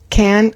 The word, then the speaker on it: can: And so also the word can that's not negative is like couldn't couldn't. It's usually reduced and the one that's